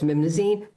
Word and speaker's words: Memnosyne: m e m n o, so Mimno, and s y n e, so it's mnasine.